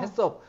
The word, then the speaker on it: HACCP: 대한민국에 그니까 유통되는 아니 h ccp 발음으로 섭은 아닌 거 같은데 왜 일까 왜냐면 이거를 두 개의 단어가 붙어 있어요 그래서를 해로 하고 ccp 서로 읽는 거죠 아 그니까 hcp 섭이